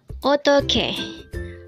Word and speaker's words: 어떻게: EOTTEOHKE. EOTTEOHKE. This pronounces a three-syllable word. The first syllable is a, second syllable is to, and third syllable is ke.